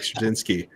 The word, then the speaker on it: Straczynski: You can literally see me retelling this story and Matt being like Straczynski.